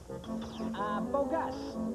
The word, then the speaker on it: Bogus: Guys, this is Izzy Bogus, our new computer operator. It's pronounced bogus.